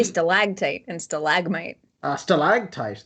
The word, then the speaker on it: stalactite: a static type instead like no we say stalactite and stalagmite uh stalag tight that's that's more fun renaissance is on the second syllable yeah i don't know what it is